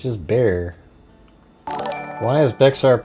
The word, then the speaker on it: Bexar: a harsh H and making the X silent resulting in the simple bear sound like the animal or bear, you know, like bear.